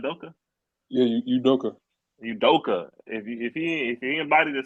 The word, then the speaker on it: Udoka: Yeah, Udoka.